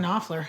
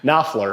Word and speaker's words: Knopfler: Knopfler. Knopfler, yeah.